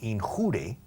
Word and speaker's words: injure: La gente muchas veces pronuncia mal la palabra lesionar, que es en inglés es injure, viene de la misma raíz que injuriar, pero tiene otro significado físico, no figurativo. To injure es quedar lesionado o herido. To injure. Ahora, la gente lo dice mal, dicen in your. Pero in your es in tu.